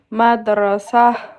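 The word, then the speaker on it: مدرسة: Voilà, on dit laaton mais quand on s'arrête la on va pas prononcer. Hm hm. OK. Madra sa voilà. Madrasah. Voilà. Madrasa n'existe pas. Soit on dit madrass soit madrasa. Hm hm.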